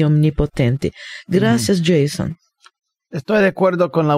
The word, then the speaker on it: Jason: nombre que aparece en mi título certificado de nacimiento es Jason J a s o n no es Jason no es yesito pero yo respondo a yesito yo respondo a a a a diferentes pronunciaciones de mi nombre el nombre a mí